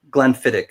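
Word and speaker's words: Glenfiddich: Glenfidic. Glenfidic is how it's pronounced.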